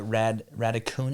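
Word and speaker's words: Raducanu: leila fernandez and then emma red raccoon is how you pronounce it um yeah yeah yeah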